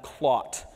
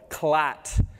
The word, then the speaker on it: clot: aware of the blood clot. Do not disturb the blood clot. Pronounce the O. Clat in Jamaican Creole means a very rude word for the female anatomy that also starts with a C.